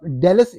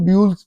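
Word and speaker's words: Dulles: international airport है इसको डी यू एल एल ई एस लिखते हैं तो मेरे जैसा बंदा जिसकी अंग्रेजी देसी अंग्रेजी है तो वो तो इसको ड्यूल्स पढ़ेगा लेकिन अमेरिकन इसको डलस पढ़ते हैं इसके स्पेलिंग डी ए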